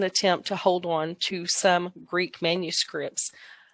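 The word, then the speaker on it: Sawm: Number 4 is the Som. It's pronounced with the long O.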